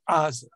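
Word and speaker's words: עזה: not iron ah gaza the gaza strip in hebrew is asa now most israelis do not pronounce the iron uh those who come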